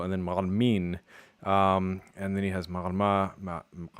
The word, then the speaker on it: معلمين: But the plural marker helpfully takes the stress.